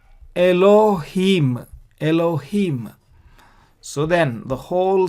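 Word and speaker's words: אֱלֹהִים: And so this is mem sofit and is pronounced m. And so how do we pronounce this word? Elohim.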